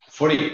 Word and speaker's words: Faurie: San Martín ya y el apellido lo pronuncié bien furí furí efectivamente así se pronun perfecto Jorge furí Jorge